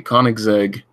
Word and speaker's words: Koenigsegg: inventory and see that the koenigsegg that is indeed how you pronounce it it's actually one of